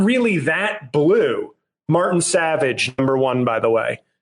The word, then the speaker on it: Savidge: Martin Savage, number one, by the way. And because he doesn't even spell it savage, it's Savidge.